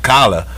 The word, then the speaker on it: collard: I don't want no I don't say collared because I don't pronounce none of them extra letters it's it's like really it's like kala kala greens but the point is